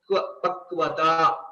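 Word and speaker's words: पक्वता: combination of two vyanjanas, you will have to ensure we are pronouncing it as a vyanjana, so which is a half letter, k plus v, kv, kv. Okay, pakvata.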